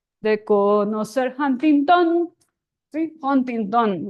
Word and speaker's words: Huntington: And then intención rhymes with Huntington. How do you make it rhyme? So, intención de conocer Huntington. So that's how I got that it's pronounced Huntington.